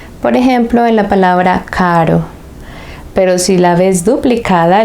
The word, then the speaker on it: caro: Por ejemplo, en la palabra caro.